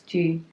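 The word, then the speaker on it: ghee: tree conditioning gee I don't know how to pronounce it - yes it's gee I like to cook with G so I'm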